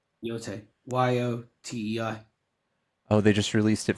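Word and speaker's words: Yōtei: How do you spell that? It's Ghost, like Ghost. Uh-huh. Oh, of Yote. Yote. Yotei.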